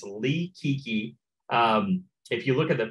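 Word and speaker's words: Li Qiqi: And so if you guys are on Facebook, write down the name Lee Kiki. And so it's spelled L-I and then a space, then Q-I-Q-I.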